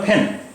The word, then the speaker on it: pen: तो अब देखिए, एक वर्ड है PEN। हम लोग इसका प्रोनाउंसिएशन हिंदी में पेन करते हैं, जबकि पेन है नहीं, ये पा साउंड नहीं है अंग्रेज़ी में, अंग्रेज़ी में फा साउंड है। तो इसका प्रोनाउंसिएशन हुआ फैन, फैन, PEN, फैन।